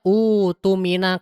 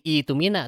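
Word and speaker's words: اؤتمن: Nah, kalau misalnya kita mengibtida'kan bacaan kita di kata utuminanya, itu bukan menjadi itumina, tapi utumina amanatahu wal yattaqillaha rabbah.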